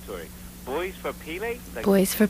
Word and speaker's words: Pele: Now, see if I pronounce this right, Tori. Boys for Pele? Boys for Pele, yes.